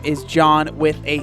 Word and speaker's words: John: My name is Jean, spelled like Jean. And my name is John with a silent H.